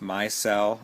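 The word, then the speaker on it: MyCell: viz pure technology this my cell and it's m CES but you say it like my cell m y c e l l the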